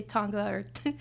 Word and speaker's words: Tonga: It's pronounced TOHNG-uh — I say TAHN-guh because it's like the American westernized way to say it but it is TOHNG-uh and I'm very proud to be Tongan.